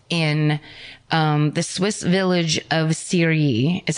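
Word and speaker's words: Cheiry: The next day, or it's the same, it's October 5th in, the Swiss village of Syrie is how it's pronounced.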